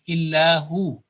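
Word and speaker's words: إِلَّا هُوَ: The vaw with a fatha will take a sukoon and it will be illahu.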